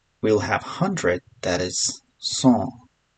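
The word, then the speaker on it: cent: After that we'll have 100 that is song. So t is silent here.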